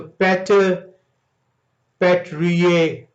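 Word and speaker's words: Pater Patriae: इसे इंग्लिश में आप पढ़ें, क्योंकि टे की साइलेंट, टी की साइलेंट जो से वो इटालियन में नहीं आती, इंग्लिश में टी जो से साउंड करेगा तो पैटर पैट्रिये जो से इंग्लिश में से प्रोनाउंसिएट किया जाएगा।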